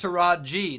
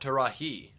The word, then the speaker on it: Taraji: Well, it's because it's Taraji, not Tarahi.